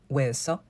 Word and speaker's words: hueso: Unless it's next to the letter C to make the ch sound, the H just doesn't exist. So please, please never pronounce it. Listen carefully as we say huevo, hueco, hueso.